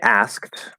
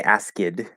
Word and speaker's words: asked: common thing we do so when we say asked right the fully full clear enunciated version with all the sounds there would be ass okay asked and you notice it's kind of hard to do to right because there are two stop sounds right next to each other um so first of course don't say ask id right or ask or